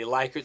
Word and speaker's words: Likert: And a lot of times these kind of questionnaires are going to be used a Likert scale, or some people pronounce it a Likert scale.